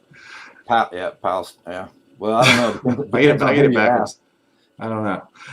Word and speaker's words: Palestine: I always want to say Palestine, like we're in the Middle East or something, but it's Palestine. Palestine.